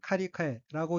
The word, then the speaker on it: 借り換え: 바꿀환자로 되어 있고 일본어로는 첫 번째 어휘는 카리카에라고 읽으며 카리카에는 빚을 갚고 다시 빌림,